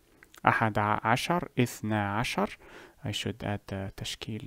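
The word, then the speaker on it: اثنا عشر: The reason the noon was removed is to make the pronunciation smoother and easier, to make us for a smoother transition from this word to the next. Instead of saying اثنان عشر, اثنى عشر.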